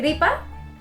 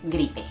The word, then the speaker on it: gripe: Option one is the "gripa" (the flu), the second is the gripe. It is option 2. it is "gripe" ..